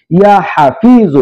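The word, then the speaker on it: يا حفيظ: যে আছে সেই জ, ইয়া হাফিজু, এটি হলো আরবি উচ্চারণ, ইয়া হাফিজু, ইয়া হাফিজু।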